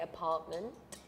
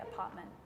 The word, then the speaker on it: apartment: In the UK, we say apartment. In Australia, we say apartment. Doesn't really sound like Apartment. the word. You don't really pronounce the T's, actually, now that I think about it.